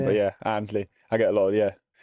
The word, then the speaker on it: Annesley: Yeah, I'm not too fussy on the pronunciation, yeah. But yeah, Annesley. I get a lot of, Annesley and all that stuff, but yeah, Annesley.